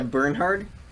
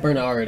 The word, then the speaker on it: Bernhardt: H very hard yeah Bernhardt not Bernard and Bernard I mean